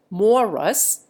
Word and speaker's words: Maurice: Moreover, the spelling of Morris, as the position of its bearer improves, commonly changes to Maurice, though the pronunciation may remain Morus, as in the case of Mr. Perlmutter.